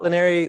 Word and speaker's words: Laneri: my name is linary last name is like Canary with an L that's the easiest way